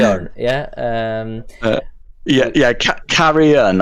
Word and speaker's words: Carrion: yeah um yeah yeah carrion i think is how you pronounce it carry on as like uh oh